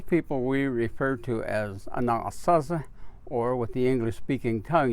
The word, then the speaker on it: Anasazi: originally and those people we refer to as a non saucer or with the english-speaking tongue you would say Anasazi and those are the people that gave the